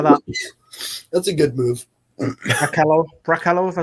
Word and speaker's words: Brekalo: Brachello, if I pronounced that right. Yeah, Josip Brekalo.